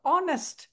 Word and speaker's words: honest: இப்போ வந்து ஆனஸ்ட், அது ஹானஸ்ட்னு சொல்ல மாட்டோம். ஹெச் is silent.